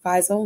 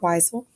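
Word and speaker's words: Wiesel: W is pronounced as V in German, so it's Weisel, not Weisel.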